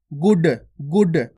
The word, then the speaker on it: गुड: अब यहाँ पे देखो इसके अंदर बिंदी नहीं है, इस प्रकार से लिखा हुआ है, यानी कि डा लिखा हुआ है, तो डा के नीचे कोई बिंदी नहीं है, तो इसको कैसे पढ़ेंगे अपन? गुड गुड।